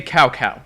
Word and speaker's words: Cao Cao: Lubu sounds like a nasally dad trying too hard to sound cool, and they don't pronounce Cao Cao's name correctly. Say Cao Cao.